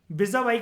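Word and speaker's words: vis-à-vis: ये किसी भी तरीके से माइनॉरिटी को ज्यादा एडवांटेजियस पोजीशन में with respect to majority, विजा वाई का मतलब होता है, इसको प्रोनाउंस करते हैं दोस्तों जिसको नहीं पता, विजा वाई, और विजा वाई का मतलब होता है इन कंपैरिजन टू।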